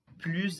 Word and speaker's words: plus: Viu aqui que o S também não foi pronunciado. Então, quando tem essa estrutura de comparação de superioridade, onde tem adjetivos e advérbios, e esses adjetivos e advérbios começam com consoantes ou H aspirado, tá? Aqui a gente não pronuncia o S do plus, tá bom?